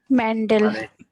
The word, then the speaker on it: Mendel: Mendel. हमारे uncle मेंडल। मेंटल मत कह देना आगरा वालों को।